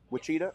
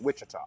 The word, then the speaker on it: Wichita: got to be there wachita Kansas is that how you pronounce it wachita no Wichita I know if you're